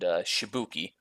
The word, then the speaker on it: Shibuki: Okay, so you see, it is a man named Shibuki. It rhymes with Fubuki.